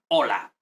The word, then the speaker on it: hola: learn this not like we don't pronounce h ever so hola it could be written